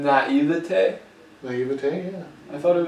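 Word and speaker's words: naïveté: it's a correct pronunciation. Naivete?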